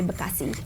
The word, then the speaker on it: Bekasi: So I just found out that this is how you actually say Bekasi.